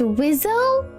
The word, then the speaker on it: WSO: is working the iy said wso which just pronounced Wizzle oh he say he pil piloting an fa 18f fighter jet which had two seats the wizo sits in the back